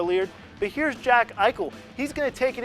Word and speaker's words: Eichel: lead but here's Jack Eichel he's going to take it in for the score here he's so good because his name rhymes with Michael moving on the the